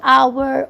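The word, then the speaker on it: hour: के साथ भी के जिनसे पहले एच हो लेकिन एच साइलेंट हो जैसे आवर ऑनेस्ट इस तरह की चीजें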